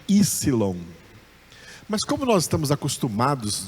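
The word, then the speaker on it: ὕψιλον: Nós estamos acostumados em português a dizer Y, mas essa é uma letra grega e em grego esse P não é pronunciado, é Ypsilon. Ypsilon.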